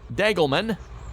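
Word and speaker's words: Degelman: Jacob was saying it's pronounced Dagelman.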